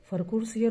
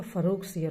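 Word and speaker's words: फ़र्रुख़सियर: इसको जब प्रोनाउंसिएट करते हैं तो कभी कभी फरखुर सियर होता है या फरूख सियर होता है। ठीक है, थोड़ा सा डिफरेंस हो जाता है बोलने में।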